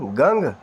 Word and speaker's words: गं: वो वीडियो पहले से उपलब्ध है, लेकिन फिर से कह देता हूँ, ओम गंग गणपते नमः। गंगा वाला गंग, गण गण गण गण वाला खेल जो है ना महाराज जी, उसके बारे में थोड़ा सा पता कीजिए।